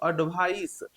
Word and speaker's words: advice: तो इसका प्रोनाउंसिएशन जो करते हैं इसको हम लोग बोलते हैं स एडवाइस और इसको हम लोग बोलते हैं ज एडवाइज।